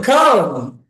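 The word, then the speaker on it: crown: ক্রাউন হ্যাঁ, উন বড় করে ক্রাউন ক্রাউন।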